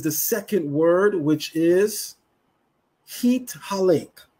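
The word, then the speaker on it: התהלך: The word we are going to look at is the second word, which is Hit Halek. Hit Halek. That's spelled He Tav He Lamed Kaf Sufit.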